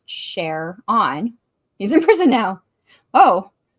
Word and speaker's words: Sharon: Sharon a guy that his name is pronounced share on he's in prison now